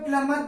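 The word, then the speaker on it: plumber: इसे कहा जाता है सैंडविच दी इस पर साइलेंट है सैंडविच पढ़ा जाता है प्लंबर प्लंबर को प्लंबर कहा जाता है प्लंबर प्लंबर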